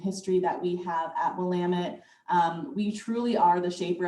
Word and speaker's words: Willamette: I'm so sorry for that mispronunciation at the beginning, Willamette.